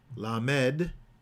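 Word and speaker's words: ל: We have different vowels to get, to pronounce the letter as opposed to the word lamad, which is to goad, right? Which is to teach.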